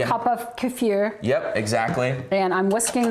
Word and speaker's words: kefir: Pronounce kefir for us. Kefir.